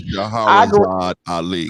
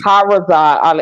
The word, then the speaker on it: Shahrazad Ali: As far as the sister Shirazi, how you pronounce her name? Ali. Shahrazad Ali. Shahrazad Ali.